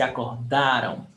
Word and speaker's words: acordaram: Stress syllable, da. Se acordaram.